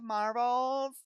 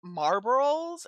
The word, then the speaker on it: Marlboros: have a pack of marbles? Thanks. I didn't even say the word right. I could never pronounce Marlboros until much later. Like, I would call them marbles.